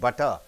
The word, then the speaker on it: butter: and after V comes T becomes soften to D sound for example butter how do you pronounce butter butter better computer D so the T softens itself to D sound right this is the third